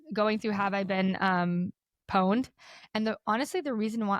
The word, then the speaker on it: pwned: And pwned is spelled PWNED. There's no O or anything. So I was like, pond? Like, cause I'm thinking like PAW, like, I don't know.